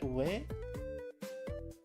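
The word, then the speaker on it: 上: It's not Jo. It's not pronounced Jo. Is it? It's read Ue.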